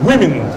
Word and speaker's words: women: plural form होइ छै WOMEN से जे भऽ जाइ छै तऽ ई W के उच्चारण आई am very sorry to tell you जो नहीं जान छी आई सीख लिया आई भऽ जाइ छै ओ छै वुमेन ओ मेन नहीं छै अंग्रेजी नहीं छै वो